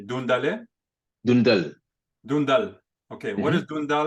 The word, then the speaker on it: Doundale: What is, and I want to make sure I'm pronouncing it correctly, Doundale? Dundal.